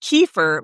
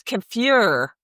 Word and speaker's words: kefir: We pronounce it kefir, but it's kafir.